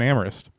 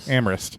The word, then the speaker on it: Amherst: used to live in amorist but nearby is Smith college when you're saying that are you saying Amherst it's spell it's it's amorist it's amorist it's spelled Amherst SS say amist man people in the